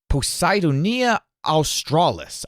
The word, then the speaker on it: Posidonia australis: There's a plant called, and I'm going to try to pronounce this right, Posidonia australis. Posidonia australis. I think that's right.